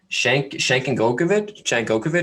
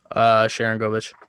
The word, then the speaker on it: Sharangovich: Don't know if he played in the KHL at all, but Shankovic, is that how you say it? Sharangovich.